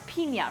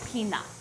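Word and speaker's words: piña: colada oh sorry uh I should pronounce Pina right pina colada Pina in as an Aussie we say peanut peanut peanut peanut pina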